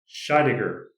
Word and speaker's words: Scheidegger: And today we are joined by a good friend of mine who we've worked together before, Shaidiger. I had I had to ask him how to pronounce his last name, so I said it correctly.